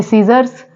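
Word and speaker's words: scissors: silent है word है सीजर्स सीजर्स में भी सी साइलेंट है नेक्स्ट वर्ड है एक्नॉलेज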